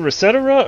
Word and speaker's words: ResetEra: But one of the mods or one of the founders of the website said on video it's Resetera.